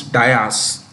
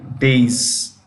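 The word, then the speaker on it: dais: sorry hey you know what there is this pronunciation of a word that most people get incorrect we often say race platform is Dias it is days this is the right spelling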